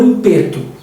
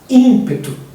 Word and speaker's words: ímpeto: ou enfase ênfase eh ímpeto ou impeto ímpeto eh isso tem a ver ou